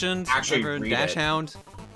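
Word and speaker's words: Dachshund: he was a dog is it not pronounced docon that's how I've heard it pronounced it's a weird one though dash dashound I think doen might be the official one from another language but Dash into dash out is just how English says it yeah yeah it's a German name so that would be how it would pronounce like if you're doing correctly all right thank you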